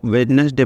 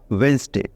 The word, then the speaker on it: Wednesday: जो वेडस डे है इसको आप लोग शायद वेडनेसडे पढ़ते हैं लेकिन वेडनेसडे गलत है वैसे नहीं पढ़ना चाहिए इसका सही प्रोनाउंस मतलब सही उच्चारण होगा वेनसडे ठीक है स्पेलिंग तो